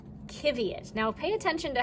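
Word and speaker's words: qiviut: But it's spelled like this. It's spelled Q-I-V-I-U-T, kiviot. And they don't put in the language that kiviot comes from, they don't use a U after the Q. They just, Q is its own letter and it just goes like that.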